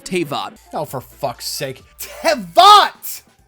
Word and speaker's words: Teyvat: Tevat! Not Teyvat!